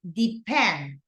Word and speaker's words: depend: Depend. Depend. Second. Second, correct. Depend.